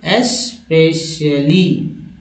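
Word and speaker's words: especially: तीसरा में सभी में लोग जो है एक्स का उच्चारण करने लगते हैं, एक्स एक्स ये जो है वर्ड्स उच्चारण में अपना लिया आता है जो कि गलत करते हैं।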